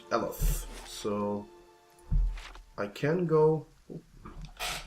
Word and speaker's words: Eothas: There's the accent on the E. Idea and Eothas.